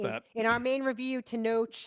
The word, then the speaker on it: Tenoch: In our main review, Tenoch, it's a ch, it's a Yes. letter in the alphabet. Ch.